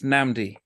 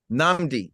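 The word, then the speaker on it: Nnamdi: So I know the double N, it's Namdi. Namdi.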